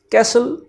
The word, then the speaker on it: castle: कैसल में T silent है और कैसल का मतलब होता है महल।